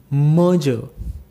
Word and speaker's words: merger: So here you will find two r's and you need to silent both the r's and the pronunciation, which will be merger, merger.